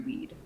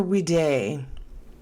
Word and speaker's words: Weed: the home to henry weed right so it's very possible it was yeah down the street now is it pronounced weed or we day it's we day like b-day okay all right that'll